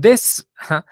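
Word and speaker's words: です: ver ahora el verbo recuerdan que la u cuando está cuando la palabra termina en su está uno se va a escuchar Entonces cómo se va vamos a decir ser y vamos a repetirlo todos test this O sea la u De plano se perdió ahí muy bien des Ajá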